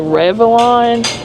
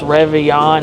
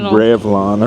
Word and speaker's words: Réveillon: The other thing, so this is the server said Réveillon, but I googled it. YouTube says it's pronounced Réveillon. I don't know though. But it's like a traditional. I said Revlon earlier, like the makeup.